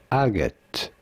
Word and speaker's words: agate: It is usually said as agate.